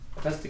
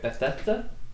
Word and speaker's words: Bethesda: Yeah, Bethesda game. That's how you say it, right? Bethesda.